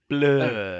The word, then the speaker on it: Blore: Hello, is a Cyclops named Blore in here? Your pronunciation is off. Blur.